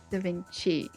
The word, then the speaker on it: Da Vinci: Da Vinci, not key.